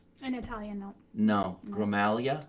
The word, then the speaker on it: Gramaglia: Jeannie Gramaglia. I always said G. Gramaglia. Yep. I guess you don't say the G, huh? In Italian, no. No. Gramalia? Gramaglia.